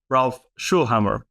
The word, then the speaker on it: Schöllhammer: here before, but also Ralph Schöllhammer. Is that the correct way of saying it? Flawless. Yes, you pronounced it flawlessly.